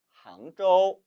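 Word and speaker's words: 杭州: 이 항주의 중국어 발음은 항저우, 항저우입니다.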